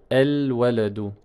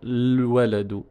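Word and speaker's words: الولد: Je vais dire el-waladu. El-waladu. Je ne peux pas commencer ma phrase en disant le-waladu. Le-waladu. Je ne peux pas commencer par le soukoun, c'est impossible.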